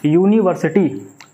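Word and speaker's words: university: Like यूनिवर्सिटी, तो इसकी यू से आवाज़ आ रही है।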